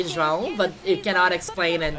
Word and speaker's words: João: João. It's like pão.